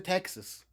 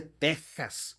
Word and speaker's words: Texas: No se dice Texas, se dice Texas. Se pronuncia con ardor en la garganta, con el dolor de